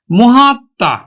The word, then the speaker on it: মহাত্মা: আমরা উচ্চারণ নিয়ে আসব তাহলে কি হল মহাত্মা মহাত্মা উচ্চারণ হল কিন্তু মহাত্মা।